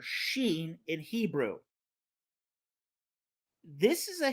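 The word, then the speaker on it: ש: Hebrew this is a Hebrew character that has a sh sound like ship or shake or shadow in linguistics this is called a voiceless post veiler frickative and if the person was able to pronounce the shush sound they could go free however the pronunciation of the sheen was not static and for the people of Ephraim they pronounced the sheen like a sibilant s this makes Shake sound like sake they were not able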